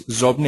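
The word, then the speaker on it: Xobni: And the previous one was Zobni. I just see questions coming through. Shane, that's spelled X-O-B-N-I.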